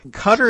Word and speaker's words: Qatar: really good at pronouncing I go with cutter for this conversation cutter is what people who who who like to tell me the pronunciation say is the thing and also I I'm